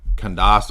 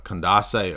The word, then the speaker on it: Candace: dumb conspiracy that can't condos Owens is just uh Candace Owens is how you say it that's how you pronounce it right Candace Owens is actually